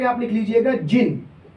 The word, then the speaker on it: zein: चौथे नंबर पे आप लिख लीजिएगा जिन। जिन, इसकी स्पेलिंग होती है ZEIN।